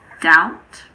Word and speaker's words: doubt: There are also a few words in which the B is silent before the letter T. These words are debt, doubt, and subtle.